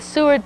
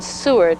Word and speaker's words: Seward: I believe the pronunciation Seward, S-E-W-A-R-D, but this comes with the tags.